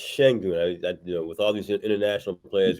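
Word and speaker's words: Şengün: most recently during COVID in 21, uh, Alperen Sengun in Houston. And I think it's pronounced Shengun.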